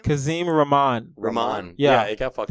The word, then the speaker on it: Rahman: Rahman. Yeah. It got fucked Think up of it like this. It's like ramen, but not that.